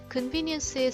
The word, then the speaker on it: convenience: 또 중요한 거 하나가 있는데 이 convenience 같은 경우에는 이 V 이 부분 있죠. 자, 이 부분이 장모음이에요. 그래서 convenient 이게 아니라 convenient 이라고 발음해야 됩니다.